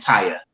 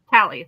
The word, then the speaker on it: Tally: So Tony and Taya, is that right? Tally, like the tally mark.